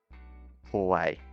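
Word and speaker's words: 怖い: Hawaii. Now, this is also important to pronounce the core. Pronounce the core bit much louder than kawaii, because of course kawaii means cute and kawaii means scary.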